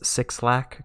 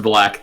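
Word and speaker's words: 6LACK: black first feature on the album that says six lakh Cooper now it's pronounced black though the supposed to be like a curvy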